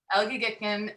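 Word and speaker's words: Elgygytgyn: Oh, Julie, I'm gonna botch this pronunciation, at the lake. Help me out here. Say it again. Elgigitkin Scientific Drilling Program in Northeast, in Arctic Russia.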